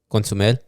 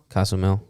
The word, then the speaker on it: Cozumel: Like we're right across Consumel, the island. Cozumel, yeah.